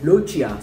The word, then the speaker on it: Lochia: I googled, I got the pronunciation and it said Lochia. So I'm going with Lochia.